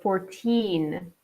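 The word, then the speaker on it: fourteen: But this is very commonly confused with another number, 14, where the second syllable is emphasized more. Okay, 1-4 is 14. The second syllable is stronger than the first.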